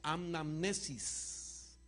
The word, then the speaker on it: anamnesis: No quiere decir recordándolo nada más a Él, sino que es una palabra griega que se pronuncia anamnesis. Diga conmigo, anamnesis.